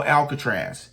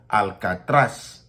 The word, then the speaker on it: Alcatraz: need to understand that there is no alcatra it's alatas Alat okay so you want to get it correct you want to say it properly it is Al I'm not invalidating and